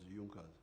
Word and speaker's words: Junker: It is written junkas but they pronounced it as junkas.